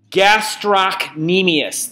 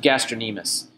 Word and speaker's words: gastrocnemius: Gastrocnemius. That is not how you pronounce that word. It's pronounced gastrocnemius.